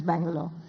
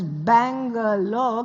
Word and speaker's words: Bangalore: So Bengaluru has 4 syllables, whereas Bangalore can be said actually in 2 syllables. Bangalore, like that.